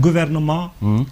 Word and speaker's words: gouvernement: when they write gouvernement, you will see a T right there, but you don't pronounce it. Right. Why? Because it's the origin. That's why when they need an adjective, what do? They add an L to it. You say gouvernemental. Tal. That makes sense. Otherwise the T is silent.